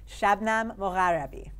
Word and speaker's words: Shabnam Mogharabi: Do you want to just pronounce it properly for everybody one more time? Guys, Shabnam Mogharabi.